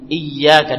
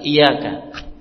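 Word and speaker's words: إِيَّاكَ: nabudu wa iaka Nain Perhatikan ya dalam membacanya iyaka ditekan iaka I tasdid sebagian orang iaka iaka Iya tidak ditekan jadi ianya hanya satu ini rukun ini harus benar tepat membacanya i tekan tasdid itu dua ya ya Ee hanya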